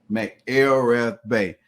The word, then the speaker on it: McElrathbey: here day Ray Mel pronounce that for me so I don't mess it up m l rth Bay Mel rth Bay uh foring Clipson stand